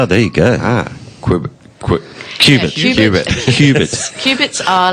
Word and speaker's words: Qubit: Last weekend, called Qubit. Qubit. Yes, I pronounced it wrong. Not C-U, it's Q-U-B... IT.